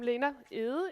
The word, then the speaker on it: Lena Egede: Yes, I'm Lena Egede, if you want it pronounced in the Danish way.